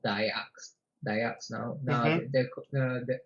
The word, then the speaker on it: Dayak: it's pronounced Dayak, but it's not as I don't think it's as westernized as I make it sound. Like it, Mhm. I definitely added an accent to it.